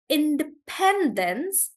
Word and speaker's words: independence: infrastructure I think infrastructure Independence so the stress is on pen in Independence Independence reception so the